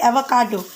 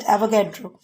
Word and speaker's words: avocado: because I have uh mispronounce the word avocado this is actually avocado but I have every time I have said avagadro so anyway I mixed